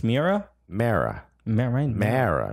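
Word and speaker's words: Meara: me era but it's mera mera mera mera right and you're MEA era right I do not pronounce it it might be mera okay like the way people from Long Island say mirror I don't feel comfortable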